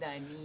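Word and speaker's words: Dymin: Diamine. You know, I said, I know it's spelled D-Y-M-I-N, right? And it's a long I, right?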